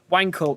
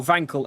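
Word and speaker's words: Wankel: Uh, cuz I mean there's another German word to consider is um the Wankl engine or Vankel engine. You got to which is it? I'm reliably informed that it should be pronounced van, but then I feel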